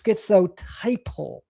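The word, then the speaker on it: schizotypal: And again, I think I've heard so many people pronounce it wrong that I just thought that's what it was. But it's skitsiple.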